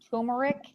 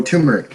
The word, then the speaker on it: turmeric: started doing the T I can't even pronounce it it's turmeric oh turmeric yeah is it turmeric okay I always say turmeric for some reason it's turmeric um and I started that's